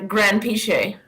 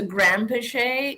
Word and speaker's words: Granpeesheh: say your name my grand piche so maybe I'm not hitting the P enough Grand piche uh because that's how he says it as opposed to grandpay yeah I think because